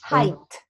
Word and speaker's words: height: and is the pronunciation height height height height is the noun no he height the G is not pronounced hi and height like